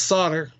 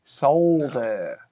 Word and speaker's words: solder: So you don't pronounce the L in solder, but you pronounce the R in iron? No, it's solder. Well, no, it's solder. Solder. Exactly, solder.